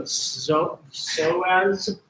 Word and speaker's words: psoas: So these other muscles, collectively called the iliopsoas, PS is a psoas, you don't pronounce a P.